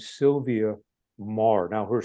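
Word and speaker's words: Meagher: woman named name Sylvia Mah now her spelling of her last name is unusual for how it's pronounced it's me a g h r it's an Irish name but pronounced Mar and she wrote the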